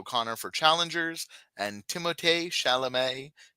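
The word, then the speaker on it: Timothée Chalamet: Conor for Challengers and timotay shalam for a complete unknown which is how you pronounce his name by the way all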